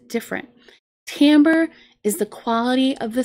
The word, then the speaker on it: timbre: of this word because it doesn't sound like it looks this word is actually pronounced Tambor Tambor Tambor is the